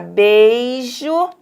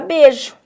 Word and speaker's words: beijo: Então, a gente pode falar beijo e podemos falar beijo, tá?